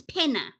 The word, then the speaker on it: Penna: And I keep saying to her, your name is not Pina, your name is Penna.